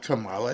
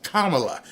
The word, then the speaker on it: Kamala: It's not Kamala, it's Kamala.